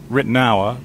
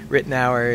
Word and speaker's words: Ritenour: else, like America, says Ritenour, but there are variations, right? That's right. Ritenour is the English pronunciation, but it's a Huguenot name. It's part French, part German.